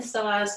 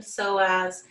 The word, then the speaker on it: psoas: We lengthened psoas, we strengthened psoas.